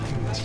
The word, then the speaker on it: must: It का बार it must को क्या बोलेंगे, फिर टी साइलेंट कर दो। He must. मस्ट का टी भी साइलेंट और इट का टी भी साइलेंट।